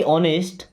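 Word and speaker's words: honest: Okay, always be ऑनेस्ट, always, always का मतलब होता है हमेशा। बी मीन्स बनो या रहो। ऑनेस्ट, इस वर्ड में एच साइलेंट है, एच को नहीं पढ़ते हैं, क्या पढ़ते हैं, ऑनेस्ट।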